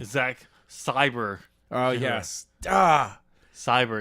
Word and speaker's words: Sabre: Cyber. It's not Sabre. Saber. It's Cyber.